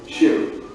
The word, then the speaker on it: chou: For example, let's say you want to remember the French word chou, which means cabbage in English. Chou is pronounced like shoe in English.